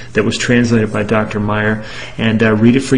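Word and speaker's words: Maier: brief email from Dr Paul L Meyer that's spelled m a i e r and you can check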